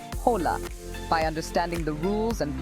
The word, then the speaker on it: Hola: are spoken for example the letter H in Spanish is always silent as in the word Hola by understanding the rules